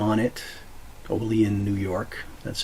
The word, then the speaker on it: Olean: Olean, New York. That's how you pronounce it.